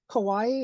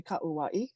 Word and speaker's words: Kauai: you would say and Kawaii is actually kauaii okay that's how you would say that so very good all